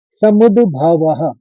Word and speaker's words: समुद्भवः: रजो गुण समुद्भवः। समुद पहले दो आएगा फिर भवः।